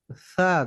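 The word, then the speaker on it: ثاء: উপরে দুই দাঁতের মাথাতে লাগে, হালকা ভাবে লাগবে, তাও বেশি রা চাপ দেওয়া রা যাবে না। রা জ- কোন রা রকম নাম কাওয়াজতে খালি একটু ছোঁয়াবেন বাস। সা, দেখেন তো, একটু নাম একটু ছোঁয়াবেন খালি।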